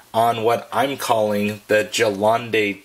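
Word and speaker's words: Gelände: RC four-wheel drive now there's different pronunciations of course I've heard Galante and various other versions of his so I'm gonna refer to it as the Jalan day that's just what I'm calling it but so be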